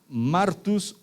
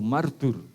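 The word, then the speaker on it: μάρτυς: Pero significa o se pronuncia en nuestro idioma martus o martur.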